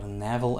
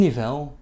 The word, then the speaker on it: Nivelles: But he eventually settled down in Nivelles, or Navel as we say, which is in Wallonia here in Belgium. In Nivelles, he worked as a scholar and a teacher under the reign of Saint Gertrude.